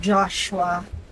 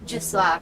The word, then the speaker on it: Josua: Joshua. Ano? Anong Joshua? Joshua. Kapulis-pulis mo. Hindi mo alam i-pronounce ang pangalan ko ha. Sige san natin yung gusto mo. Mr. Josua. Yan. Yan ang tama.